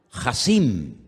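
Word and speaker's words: חסין: pantalla ahora la palabra poderoso en hebreo se pronuncia díganlo conmigo jassim más fuerte Jim esa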